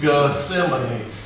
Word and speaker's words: Gethsemane: Gethsemane.